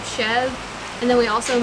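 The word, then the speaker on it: chèvre: Some people will pronounce it a little different, but we just say Chev. Some people say Chever Yeah. or Chevra.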